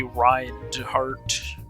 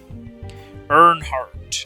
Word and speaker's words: Earnhardt: Earnhardt is the pronunciation.